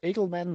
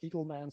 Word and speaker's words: Egelman: i not only learnt your name is pronounced uh edelman not eagle man sorry for that but